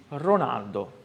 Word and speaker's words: Ronaldo: O som do R, por exemplo, Ronaldo, não existe na língua italiana padrão. Então, na Itália, os italianos me chamam sempre Ronaldo. Vabbè, eu tive que aceitar. Então, é Ronaldo, ok?